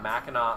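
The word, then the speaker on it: Mackinac: home it's it's it's the Grand Hotel at MAA Island um which is spelled like MAAC um no one finishes their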